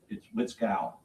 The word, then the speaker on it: Witkall: My name's Witkall. Witskull. Exactly the way it's spelled, sir. Witzkall.